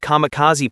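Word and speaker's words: kamikaze: Kamicazi, pronounced kamicaz, were a part of the Japanese special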